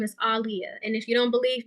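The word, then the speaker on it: Aaliyah: saying it like that Aliyah that's how you say her name because in an interview she said it's pronounced like um Muhammad Ali so you know how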